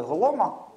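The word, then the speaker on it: Golomb: Це так звані постулати Голома. Він Голом МБ, але якщо не помиляюся, B не читається.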